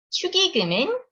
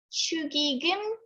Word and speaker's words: 축의금: 축의금은 결혼식 때 내는 돈이에요. 발음은 축의금, 축의금. 둘 다 괜찮아요. 역시 축의금이 more common pronunciation.